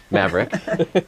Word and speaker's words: Maverick: very big record label rhymes with havick Maverick um and some things were